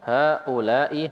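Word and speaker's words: هؤلاء: Haula'i, haknya panjang ya. Haula'i kibarun. Iya. Kalau dalam Al-Quran ini mat wajib ya. Bacanya 4 harokat. Kalau dalam bahasa Arab enggak sampai segitu tapi panjang tetap.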